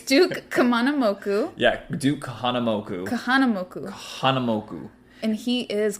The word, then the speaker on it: Kahanamoku: okay so it's Duke kamam moku yeah Duke Kahanamoku Kahanamoku Kahanamoku and he is quite an icon